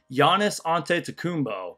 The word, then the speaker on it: Giannis Antetokounmpo: They joked about pronouncing Giannis's last name, which, by the way, I think I say it pretty well. Giannis Antetokounmpo.